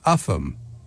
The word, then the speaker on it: Ulgham: That is Cambois and Ulgham. And they're pronounced Camis and Upham.